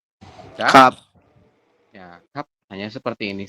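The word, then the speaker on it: 값: Nah, kalau hanya ada 4 huruf seperti ini, teman-teman baca hanya 3. Ya, maka teman-teman bacanya hanya giok, vokal A, dan yang biep saja. Jadi hanya 3 huruf seperti ini dibacanya. Berarti kita bacanya gimana? Menjadi kap.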